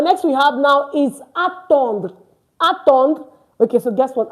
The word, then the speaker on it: attendre: Attendre to attend. And of course, it's not attendre because the RE is not pronounced.